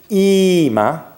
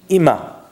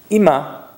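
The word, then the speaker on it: אמא: It could be ima, which if you're an American tourist in Israel, is probably how you pronounce it, but that is incorrect. It's ima. Right, the emphasis goes on the m.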